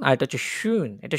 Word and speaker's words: schön: এটা schon আর এটা হচ্ছে schön। এটা schön আর এটা schon। একটু মানে pronunciation একটু ইয়ে আরকি।